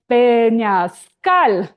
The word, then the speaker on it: peñascal: It's called peñascal with stress at the end.